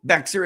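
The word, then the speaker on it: Bexar: And yes, I know Beexer is pronounced bear.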